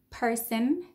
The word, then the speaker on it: person: So second person reason. So it's not an O, it's a schwa.